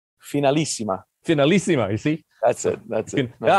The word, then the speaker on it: Finalissima: And we have the right guy here to make sure that I do pronounce it correctly. You know, the Finalissima, is that correct? Finalissima.